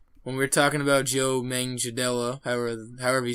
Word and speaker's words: Joe Manganiello: mention real quick that Joe Manganiello I believe is how you pronounce it i think i got it down finally joe manganiello is